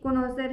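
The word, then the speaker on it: connoisseur: ये कॉनोसर है, इसको क्या पढ़ेंगे, एक सेकेंड, प्रोनाउंसिएशन भी जानना बहुत जरूरी है। इसको पढ़ेंगे कॉन्सर, ठीक है, क्या पढ़ेंगे, कॉन्सर।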